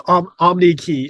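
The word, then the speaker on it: Omneky: Is that how we pronounce it too, by the way? Is that correct? It's Omnikey.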